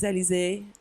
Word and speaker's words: Alizé: So, but I like to say like oh, my name is Alizé, so like the drink, because whenever I pronounce my name, they don't really understand at the first place because with my accent.